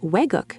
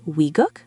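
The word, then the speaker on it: 외국: The word weguk means foreign country. Some say wiguk, others say aeguk.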